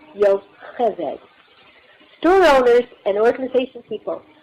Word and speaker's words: Yocheved: That CH is pronounced the same as in Bach, Yocheved.